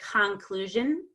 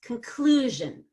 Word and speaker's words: conclusion: stressing every other syllable I have to reduce con to come we always reduce to a short U or an ER sound so if there's no R it's gonna be a short u or a schwa so it's fun and it's very fast conclusion but if I say conclusion now you have destroyed the rhythm of English and now